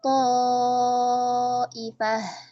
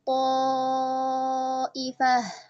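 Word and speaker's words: طائفة: Maka kita baca dengan huruf to-nya, ya. Fa'amanat ta'ifah. Fa'amanat ta'ifah, ya. To, mana to? Tidak ta tetapi to. To yang isti'la, ya. Seperti itu, isti'la, ya. Yang tebal.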